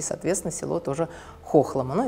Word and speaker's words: Хохлома: Немногие знают, что Хохлома на самом деле не Хохлома, как мы привыкли говорить, а Хохлома, потому что речка Хохломка, село стоит на этой речке, и, соответственно, село тоже Хохлома.